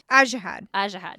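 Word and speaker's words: Ajihad: How does the audiobook pronounce this name? Ajahad.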